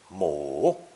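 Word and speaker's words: 母: generation three the corresponding character for mother is mo and by adding we get the polite forms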